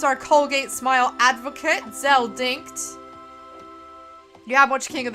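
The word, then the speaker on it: Dincht: I always thought it was Dinch, and then I realized the T is like after the CH. It's, yeah, anyway. So, Zell Dinkt.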